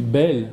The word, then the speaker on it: Bayle: Moi, Bayle, moi, c'est un auteur que je prononce à la Bayle, parce que, à l'ariégeoise, parce que je suis moi-même en partie ariégeois. Vous savez qu'ici, on dit Bayle, hein, on peut dire Bayle, monsieur Bayle.